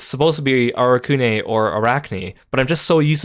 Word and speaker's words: Arakune: with the English dubbing, they call him Arakune, which to me makes sense because it looks like a Japanese romanization of something. But then in the third game, they suddenly changed the way they pronounce his name to Arachne.